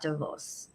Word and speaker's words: Davos: this conversation um not because I was at DeVos as I've been informed is the correct pronunciation I may not always do that but